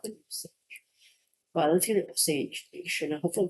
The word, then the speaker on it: Osage: I think they pronounce it Osage. I'm not sure if that's correct. I know there's a movie about them. Well, let's get it Osage Nation.